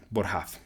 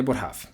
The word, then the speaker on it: Boerhaave: Que creo que se pronuncia Boerhaave, si no estoy mal.